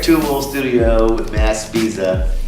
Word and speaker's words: Spezia: I'm over here at Two Wool Studio with Matt Spezia. Did I say it right that time? Yeah, bro, you got you.